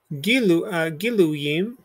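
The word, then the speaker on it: גילויים: So notice you got gi, then you have lu as a syllable, then we have our yud with a chirik underneath it. So this is attached to this chirik, but this is over it. So we're going to make the y sound here, and this gets absorbed into the chirik. So giluyim, giluyim.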